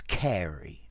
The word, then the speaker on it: Carew: Okay, this poem is by Thomas Carey. Notice, I know the name is written Carew or Carew, but it's pronounced Carey, the marvels of English pronunciation.